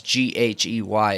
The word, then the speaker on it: Ghey: Her last name's spelled really weird. It throws me off. It's Ghey. It's pronounced Ghey.